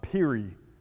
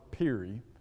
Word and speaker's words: Peary: name of robert uh peary i think is how you would say his name is spelled p-e-a-r-y you ever heard of